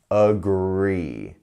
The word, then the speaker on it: agree: sound here agree and you're falling from that a sound onto the gree sound agree so a couple of